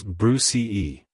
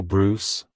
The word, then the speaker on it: Bruce: personality it's pronounced as Bruce Bruce Bruce to pronounce it correctly emphasize the oo sound and end with a soft s sound avoid pronouncing it as Bruce E E like hello Bruce goodbye Bruce if you